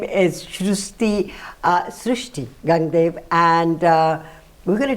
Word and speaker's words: Srushti: How do people pronounce your name? Srushti.